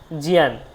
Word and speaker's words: জ্ঞান: এরকম করে বলেছেন তাহলে জ্ঞানটা আমাদের উচ্চারণটা কি জিয়ান জ্ঞান নয় কিন্তু ঠিক আছে আমরা শিখব জিয়ান তার দেখুন ত্র শব্দটা ত্রফলা